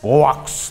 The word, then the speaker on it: Govecs: Zaten Govex, Govex diye okunuyor galiba.